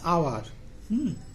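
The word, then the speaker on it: hour: আবার দেখো অ্যান আওয়ার, অ্যান আওয়ার, তাহলে এখানে কিন্তু এইচ আছে, কনসোনেন্ট আছে, কিন্তু আমরা অ্যান ইউজ করছি।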